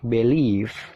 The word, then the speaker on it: believe: Yang pertama dibaca believe. Nah, di situ dibaca B, lele, BB, believe. Ada tanda petik, nah itu stressing atau penekanan. Jadi penekanannya itu mengarah ke leave-nya ditekan ya.